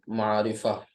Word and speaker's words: معرفة: इसे पढ़ेंगे नकीरा, और इसे पढ़ेंगे मारिफा, ठीक।